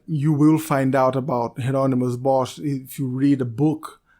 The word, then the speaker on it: Hieronymus Bosch: I don't speak Dutch I looked around and I saw that geronimo's boss is like the proper pronunciation of the name so if I'm wrong I apologize but I think that is how it's supposed to be said geronimos with this type